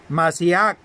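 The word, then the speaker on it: משיח: derivar respectivamente de la voz hebrea Mashiach, que se escribe M-A-S-H-I-A-K-H, Mashiach, y de la griega Christos, con K y acento en la O, Christos.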